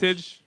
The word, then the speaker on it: Buttigieg: pronounce it. Buttigieg.